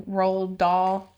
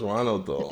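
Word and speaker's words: Roald Dahl: library things, but Ro, how do you say his name? Rald Doll. He has such a complicated name. I don't I always wanted to just call him Ronald. I thought it was Ronald Doll.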